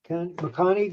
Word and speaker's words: Maccani: Maccani.